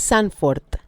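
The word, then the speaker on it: Zandvoort: porque eh la B, cuando tú tienes V O R T, o sea, V O, es como una f eh es Sanford.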